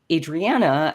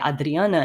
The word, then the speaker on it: Adriana: more of the um Portuguese pronunciation of my name so going by Adriana instead um because I've